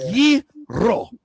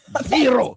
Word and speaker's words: gyro: He was like, "It is ye-ro. Ye-ro.